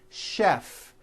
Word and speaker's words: chef: of words that are spelled with ch and are also pronounced with the sh sound words like chef and the city of